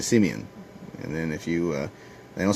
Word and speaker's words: Simeon: listen to juice us they don't say Simon it's a Simeon and then if you